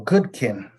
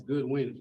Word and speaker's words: Goodwin: Oh, Goodkin. It's Goodwin.